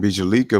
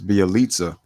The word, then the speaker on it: Bjelica: how you pronounce it i keep saying bijalika but it's bialitza that's the thing with